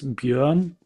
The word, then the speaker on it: Björn: Alan, Ubaid, Jorn, if I said your name, I swear the B is silent, right? No, it's Björn.